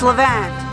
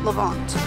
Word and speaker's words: Levant: how you say it but it's Levante 11th lavance it's Levante not lavond wild berries like